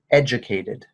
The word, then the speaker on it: educated: Yeah, make sure we've got this last syllable there. Educated.